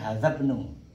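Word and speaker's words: هذا ابن: Ini bacanya hadzabnu. Ya. Ingat ya, kalau nggak ada ininya baru ibnu ya. Nah, karena ada ininya, nah gini hadzabnu.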